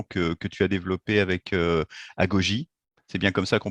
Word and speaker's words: Agogy: présenter la solution que tu as développée avec Agogy. C'est bien comme ça qu'on prononce, hein, Oui, oui, Agogy.